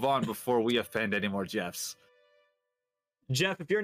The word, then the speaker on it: Geoff: you to join us let's pronounce jeff just yeah that's jeff yeah really yeah why